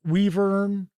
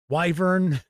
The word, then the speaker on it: wyvern: So, Kevin R. Smith says, "Weavern." Wyvern, tomato, tomato. You know what? I have never heard anyone pronounce it uh a weavern. You know the reason why I pronounce it wyvern, it this is going